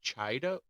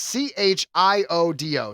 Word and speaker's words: Chiodo: But let me ask you, how do you pronounce that top name? Stephanie Chido?